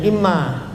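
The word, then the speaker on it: إمّا: Wa in satamahu ahadun falyakul marlataini aw salasan inni shaimun imma bilisanihi, itu bacanya imma, namanya huruf tafsil bukan amma, bukan, kasih baris.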